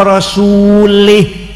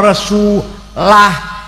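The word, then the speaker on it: رَسُولُهُ: Annallaha bari'um minal musyrikin wa rasulih. Sesungguhnya Allah tidak melindungi orang musyrik dan tidak melindungi Rasulnya. Salah. Yang benar bacanya annallaha bari'um minal musyrikin wa rasulah, artinya Allah tidak melindungi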